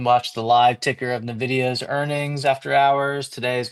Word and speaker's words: NVIDIA: for a minute so we can watch the live ticker of NVIDIA's earnings after hours.